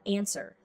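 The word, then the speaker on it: Anser: see them easier um also called uh answer answer answer but not spelled like answer answer a NS e r which means Goose which I'll talk about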